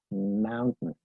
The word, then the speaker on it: mountain: Mountain, mountain. Si te das cuenta, esa segunda sílaba se reduce, ¿sí?